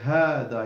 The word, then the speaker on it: هذا: So we delete the ألف between the ha and the ذال, in writing, not in pronunciation. So you say hada, you don't say hada, you say hada.